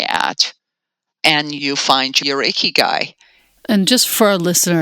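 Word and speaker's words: ikigai: can make money at, and you find your iky guy.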